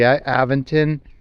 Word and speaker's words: Aventon: I hope it does, especially when I was going fast on the Aventon.